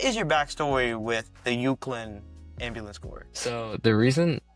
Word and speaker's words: Euclid: Correct me if I pronounce this wrong. The Euclid Ambulance Corps. Euclid.